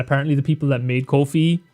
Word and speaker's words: Ko-fi: Um, also apparently it is Kofi. I literally had to search how is it pronounced and apparently the people that made Kofi pronounce it Kofi, which is weird because I